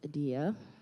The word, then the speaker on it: Adia: this is right well my name is pronounced adaia okay number one and